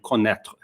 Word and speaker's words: connaître: But you talk about the difference between savoir and connaître. How do you say it slowly for my audience, because I don't know. Savoir and connaître.